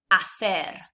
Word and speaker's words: hacer: You'll remember that the H is silent in Spanish. You've then also got this CE combination, which is fe. So I would pronounce this word hacer.